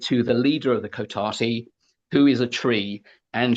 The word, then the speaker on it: Cotati: sentient plants, sentient trees called I think it's pronounced Cotati.